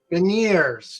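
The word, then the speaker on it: Beniers: the Maddie bin how do you say this veneers veneers yeah I'm gonna go with him uh looking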